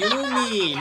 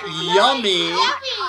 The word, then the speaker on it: Yumi: It's Yumi, not Yummy. It's Yummy. Yumi. It's pronounced as like it's Japanese, okay?